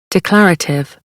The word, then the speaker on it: declarative: डेक्लेरेटिव नहीं कहना, 4 syllables हैं, सेकंड के ऊपर स्ट्रेस है, ये आप सुन भी सकते हैं, डिक्लेरेटिव। Declarative, declarative, declarative.